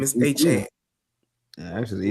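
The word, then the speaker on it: Devon Achane: Devon Achan is, if we said his name wrong forever and a day, we've been calling him Achan forever and a day, and his name is Achan.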